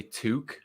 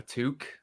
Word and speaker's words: toque: a beanie but mostly you'll hear canadians say toque a tuque so it's spelt t-o-q-u-e toque so that's what we call